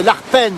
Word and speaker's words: Arpenaz: aussi en B savoyard on prononce pas toujours les a Z à la fin on on ne dit pas le Z dans tous les cas et en tout cas et le a souvent l'enlève on dit parfois la cascade